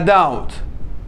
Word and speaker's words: doubt: يعني بلا شك، without a doubt، without a doubt. لاحظ البي سايلنت لا تلفظ، لا نقول doubt، without a doubt، without a doubt.